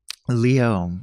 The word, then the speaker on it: Liot: just like to say well you know how to pronounce ballet and then all of a sudden it makes sense Leo yeah there you go